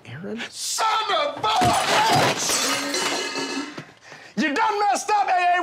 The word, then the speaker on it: Aaron: maybe they're getting cheaper now i don't know aaron gordon willie cauley stein sarik you know i'm